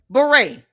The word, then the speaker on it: beret: You know, beret only has five letters. Two syllables. Beret. Beret. Two syllables, five letters, and she butchered it.